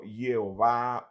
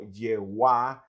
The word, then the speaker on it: Jehová: la puntuación vocálica masorética, se comenzó a pronunciar como Jehová o Yehuá hasta conocerse en español con el nombre de Jehová.